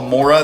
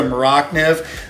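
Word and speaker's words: Morakniv: got the nif and most people call mora this is a swedish made knife because they're not maybe pronouncing it correctly but it's the maracniv this is a carbon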